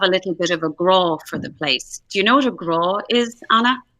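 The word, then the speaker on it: grá: So, graw is the Irish word for love.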